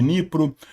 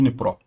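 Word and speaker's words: Dnipro: Sumi de Nipro, eh de Nipró, pronúncia de Nipró, Poltava, Zaporíia, Mikolai, Livive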